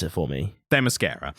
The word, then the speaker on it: Themyscira: You're going to have to pronounce it for me. Themyscira. Themyscira.